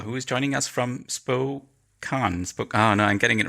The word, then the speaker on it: Spokane: Welcome to Andrew Belisle, who is joining us from Spokane. Oh no, I'm getting it wrong again. Tell us, what's the correct pronunciation again? Spokane. It's Spokane.